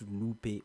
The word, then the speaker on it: Lupe: I don't know how to pronounce his name, but I think it's pronounced as Lupe or Loop Fiasco. I used to call him Loop Fiasco.